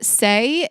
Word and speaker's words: Saie: So Saie, which is spelled S-A-I-E, but Saie is an award-winning clean and sustainable makeup brand sold exclusively at Sephora.